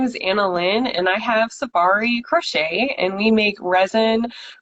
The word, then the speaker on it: Sophari: So Sophari. it's almost like safari, like going on a safari.